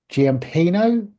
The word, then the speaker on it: Giampino: Today, I have the absolute pleasure to interview Giampino. Have I That's correct.